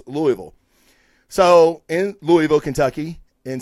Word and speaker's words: Louisville: Matthews here in Louisville Louisville I even said it wrong I live here Louisville goddamn its Louisville don't say Louisville because in